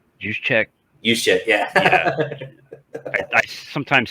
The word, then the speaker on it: Juszczyk: Juszczyk, yeah. I sometimes say it like it's spelled.